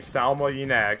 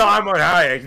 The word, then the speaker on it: Salma Hayek: Salma Hayek.